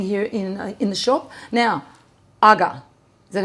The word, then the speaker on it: Aga: Now, Aga.